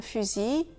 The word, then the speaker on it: fusil: Et pour compliquer encore un peu les choses, IL, donc cette fois avec un seul L, IL, il peut parfois se prononcer I. Un outil, un fusil ou un enfant gentil.